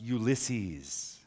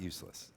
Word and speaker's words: Ulysses: and yeah, Andrew, no, it's pronounced Ulysses, not Useless.